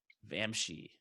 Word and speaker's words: Vamshi: Our next guest is known as Vamshi. Rhymes with Banshee.